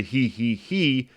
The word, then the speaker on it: hi hi: And in French, it's spelled hi hi. But since the French i has more of an e sound, it's closer to he he he, which works better with